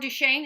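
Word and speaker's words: Duquesne: Fort Duchesne is how you say that.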